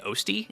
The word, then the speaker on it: Osty: I originally thought it was Osti but I heard Northern Lion say Osti and I realized that it's probably supposed to rhyme with ghosty.